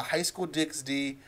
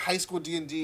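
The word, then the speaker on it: High School DxD: vault of giveaways uh high school dix d or sorry high school d and d you don't pronounce the x uh volume four now if you don't know what high school d d is essentially this guy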